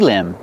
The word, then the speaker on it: limb: Or I can say this is a tree limb. Remember with limb the B at the end is silent. This is a tree limb.